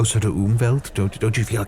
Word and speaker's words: Umwelt: that cool I think so yeah yeah you umelt yeah I was I was wondering it's spelled um uh but it's pronounced umelt um it's actually a really cool word meaning